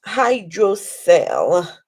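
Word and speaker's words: hydrocele: If the the person you're seeing is a pediatric consultant, oh my god, the thing is pronounced hydro cell. Hydro C l e.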